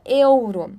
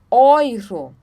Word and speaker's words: Euro: Ok próximo de Tom então e u juntos tem o som de Oi tá então a gente não fala Euro nós falamos oiro oiro oira oira então